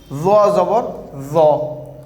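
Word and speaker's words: ظَ: Front of the tongue will touch upper two teeth.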